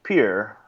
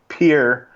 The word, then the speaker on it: Pierre: machine because it's 1993 and said it's actually pronounced Pierre and so they put that in the soundtrack itself so there you go not that you were wondering but it is pronounced Pierre South Dakota and all the South Dakotans rejoiced